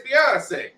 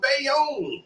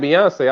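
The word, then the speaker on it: Beyoncé: Everybody can see it as Beyonce. Ain't nobody was saying that back then. They couldn't pronounce that damn name. They was calling her Bayonne.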